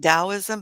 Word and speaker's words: Taoism: It's pronounced Taoism, but it's spelled with a T.